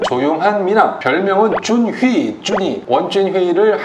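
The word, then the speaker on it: 文俊辉: 캐치프레이즈는 조용한 미남, 별명은 준휘, 준이, 원준휘를 한국식 발음으로 하면은 문준휘라고 부릅니다.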